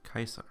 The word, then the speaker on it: Caesar: Kaiser so after Caesar Caesar was originally pronounced Kaiser okay sir yeah which is why it's similar to Kaiser German Tsar in Russia